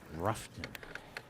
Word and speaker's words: Rutherfordton: Matt Airy just texted in saying that the locals call it Ruffton. Ruffton? Ruffton, instead of Rutherfordton. Too many syllables. They just simpled it. Oh, similar to Louisville. Louisville, yes. Simplified it down to 2 syllables.